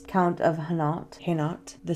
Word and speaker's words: Hainault: So today we're going to talk about Philippa of Hainault. Hainault. You saw in the title how to spell it, but it's Hainault.